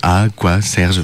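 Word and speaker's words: A quoi Serge: Et c'est pour ça aussi que quand je le prononce, des fois, j'essaye de dire A, quoi, Serge, pour bien le faire comprendre aux personnes qui l'entendent la première fois.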